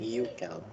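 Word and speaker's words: Hückel: So, hindi ba, ang basa dyan, Euchel. Okay, kasi the umlaut, the U na may double dot, it's UE. UE ang pronunciation.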